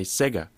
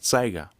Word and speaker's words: Sega: as you're adopting as long as you're you're pronouncing the the e sound it's okay the Japanese they say Sega Sega it's still making the e sound still